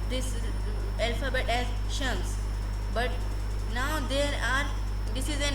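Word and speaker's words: شمس: If it is upon any alphabet, just stop there, like shams. I did not pronounce it as shamsi, shamsa, shamsu. I pronounced it as shams.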